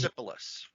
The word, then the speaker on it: Persepolis: Persepolis.